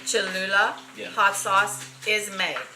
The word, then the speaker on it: Cholula: Cholula. Cholula Yeah.